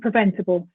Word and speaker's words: preventable: You could look at the bull endings in capable and preventable. You could draw attention to that silent letter E. We don't pronounce that one, but we insert a schwa between the B and the L.